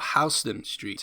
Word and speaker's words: Houston Street: a vacant lot on houston street or houston street as it is apparently pronounced after a dutch immigrant of the same name there are a number